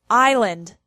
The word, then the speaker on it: island: has some words with silent R silent s island Isle debris aopo Bourgeois silent tea ballet Castle Gourmet listen Rapport silent